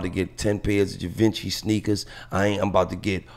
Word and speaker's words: Givenchy: So, and a side note, it's Givenchy. It rhymes with raunchy, like Givenchy. Givenchy? Yeah. Oh, I thought it was Givenchy.